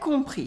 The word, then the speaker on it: compris: Here you can notice that the S at the end of compris is silent and O and M make a on sound, the nasal on.